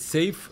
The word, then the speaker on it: Seif: you not so yeah safe No and then how do you tell people to pronounce it it's safe I always give an analogy of a safe box so it's yeah yeah